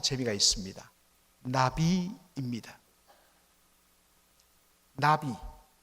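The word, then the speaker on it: נביא: 발음이 참 재미가 있습니다. 나비입니다. 나비.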